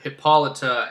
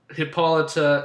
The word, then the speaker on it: Hippolyta: Like one was that she was born from a union between her mother Hippolyta and Hades, and like Hades tricked Hippolyta and